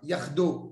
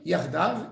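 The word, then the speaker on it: יחדו: Yardo avec Akadosh Baruch Hu. Et. Il faut le lire, Yardav, ils montent ensemble.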